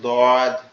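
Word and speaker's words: ض: সেটার নাম হচ্ছে দদ এই দটা কিভাবে উচ্চারণ হবে দটা হচ্ছে আমাদের জিহ্বার গোড়া ডান পাশের উপরের মাড়ির দাঁতের এর সঙ্গে লাগবে। মানে গালটা একটু ডান সাইডে বেকে জিহ্বাটা ওখানে লাগানোর চেষ্টা করতে হবে।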